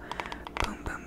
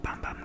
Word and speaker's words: Bum Bum: So at the same time, I also got the Sol de Janeiro Boom Boom Cream, or Bum Bum Cream. I've heard it pronounced both ways.